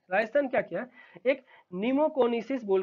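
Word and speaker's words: pneumoconiosis: तो इसको बोलते हैं नीमोकोनिसिस, पी यहाँ पे साइलेंट है।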